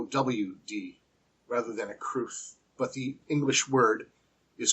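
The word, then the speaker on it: crwth: divided on its pronunciation some pronounce it as a rhyme for broth While others rhyme it for truth as I do cruth but regardless of which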